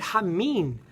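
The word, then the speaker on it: המן: even know what I'm doing now the word huh mean did you eat from the tree huh mean is spelt hey man moon which is the word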